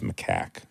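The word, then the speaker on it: macaque: No, it's spelled like mac, but it's macac.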